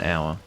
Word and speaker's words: hour: well i say an hour which is technically the best way to sing because uh our is no because the h is not pronounced that's the reason why